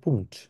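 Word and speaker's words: Punkt: হচ্ছে পয়েন্ট বলি ইংলিশে কিন্তু এটাকে জার্মানে বলে হচ্ছে পুন্ট তারপর হচ্ছে মাইনাস বলি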